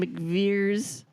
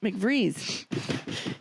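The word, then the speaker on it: McVries: And that's when McVeers, did I say it right? McVrees. You said it right now, but you spelled it wrong in your notes.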